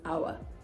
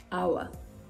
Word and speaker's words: hour: you pronounce this hour the same way you pronounce this hour hour our ghost ghost ghost rhythm rhythm Rhythm right